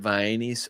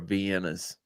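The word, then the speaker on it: Vienna: sausages in a can do they pronounce it VIIs or vienas oh vienas yeah we're a v VI family uh December 17th I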